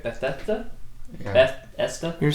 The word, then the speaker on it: Bethesda: Yeah, Bethesda game. That's how you say it, right? Bethesda.